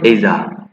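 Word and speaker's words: Asia: many Countries of এইজা এই এশিয়ার উচ্চারণ হবে এইজা তাহলে যখন তিনি অনেক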